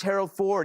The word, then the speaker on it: Harold Ford: And his name is Harold Ford. It rhymes with our Lord.